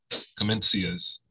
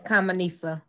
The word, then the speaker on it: Kamenisa: And I will send out to everyone, as well as at Commencia's, is that correct? That pronunciation, Commencia? It's Kamenisa. Kamenisa. Yes.